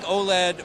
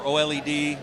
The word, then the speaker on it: OLED: I think OLED or OLED, it's pronounced both ways, is probably more energy efficient than plasma used to be.